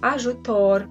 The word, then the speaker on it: ajutor: Now, the next one, zh, I'd like you to pay attention to this one because it is different from the English j. It's not j, it's zh. Zh in joc, which is game, ajutor, which is help, camouflage, which is the same, camouflage, yeah? Pronounced as the English S, but in pleasure or leisure, all right?